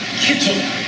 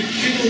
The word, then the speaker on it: kittel: The white robe is called a kittel. That's a relatively easy word to pronounce in Hebrew. It's got pretty much English phonetic sound to it.